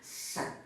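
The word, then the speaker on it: Shedd: ini teori realistik daripada set eh s h e d d jadi bacanya set ya jadi itu ada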